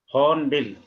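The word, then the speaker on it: Hornbill: रहे हैं हर्न बिल होन बिल क्या बोलेंगे न बिल बिल आर इज आर की जगह छोड़नी है आर को प्रोनाउंस नहीं करना है तो क्या बनेगा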